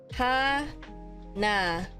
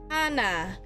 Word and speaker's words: Hana: my Filipino accented name, it's pronounced ha na. So, sorry, that's not how you do it. IPA. Ha na. That's it. So Hana is how you pronounce my name.